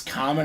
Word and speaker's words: Kamen: And the first time I was Kamen, then I was Kamen, then I wrote them again, said it's Kamen, I put it phonetically.